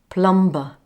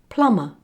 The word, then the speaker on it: plumber: like in this word did you say it like this plumber well if you did you said it wrong it's plumber plumber is the person